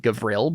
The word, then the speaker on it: Gavriel: Yeah, I think in the culture we pronounce it Gavriel, but yeah.